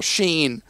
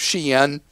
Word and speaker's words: Shein: And so I've been asked an amazing number of times why we never talk about what Americans call Shein, but I think the proper way to pronounce this is Shein.